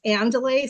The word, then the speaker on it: andouille: This is the, I think it's pronounced andouille, so it's a little spicy.